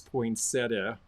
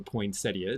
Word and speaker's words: poinsettia: This is probably the biggest enameled pin, this poinsettia, or poinsettia, depending how you like to pronounce that.